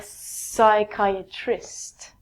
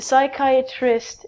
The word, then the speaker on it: psychiatrist: next one is a psychiatrist the psychiatrist is a doctor who can prescribe you medication if you have a psychological problem again we take out the P and it's like Quyet